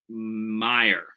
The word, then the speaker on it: Meyer: Uh sorry, it's Meyer. John, I want to call mayor like the musician. Ding ding ding ding ding. But that is not how you pronounce his name.